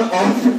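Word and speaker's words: often: कह रहा है जो the words are ऑफन, ऑफन नहीं, यहाँ पर टी साइलेंट होता है इसलिए लिखा जाता है ऑफन, और हम लोग इसको पढ़ते हैं ऑफन।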